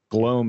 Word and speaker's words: Gloam: Gloam is how I pronounce it. Like the gloam.